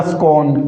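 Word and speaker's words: scorn: तो एक तो हो जाएगा स्कॉर्न। कौन सा? स्कॉर्न। यहां पर भी ये आर है ना साथियों। ये क्या है? साइलेंट है। इसका क्या उच्चारण होगा? स्कर्न डिसरगार्ड उसके बाद में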